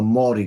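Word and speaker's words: Māori: not be commenting on the mai culture or the Mari culture as it's properly um pronounced as the word I'm looking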